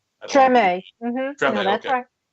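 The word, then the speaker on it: Tremé: Is that pronouncing it right? Treme.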